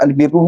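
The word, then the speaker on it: البر: dimaksudkan kat sini adalah kalau ejaan bahasa Arab ni adalah albirru dengan berbaris bawah ba albirru kalaulah al-barru kalau al-barru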